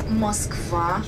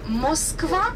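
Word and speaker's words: Москва: front of us on our left there is Mosa River Moscow River the main river of our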